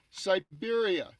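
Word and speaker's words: Cyberia: It's spelled C-Y-B-E-R-I-A. Siberia.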